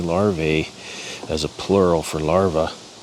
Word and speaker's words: larvae: as a plural for larvae pronunciation is actually larv it's an AE at the end and it's not the a that makes the sound it's the E lar I always say larve yeah there's some milk